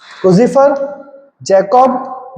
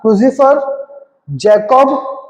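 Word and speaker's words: Creutzfeldt-Jakob: हालांकि जो नाम है वो क्रूजिफर से मिलता नहीं, बट प्रोनाउंसिएशन बेटा ऐसे करते हैं उसको, है ना, क्रूजिफर जैकब डिसीज, ये बेटा इसको नाम ऐसे प्रोनाउंस करते हैं, ठीक है।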